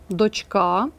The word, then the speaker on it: дочка: значить Правильно жаркий і варіант г дочка чи дочка наголос запам'ятайте на а дочка але слово донька наголос на першому складі Не плутайте ці слова